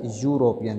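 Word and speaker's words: European: तो एन आना चाहिए, लेकिन इसको हिंदी में बोले तो इसको ई साइलेंट रहे, क्या आएगा, यूरोपियन, ये की आवाज़ आ रही है, तो भी ए, ए यूरोपियन।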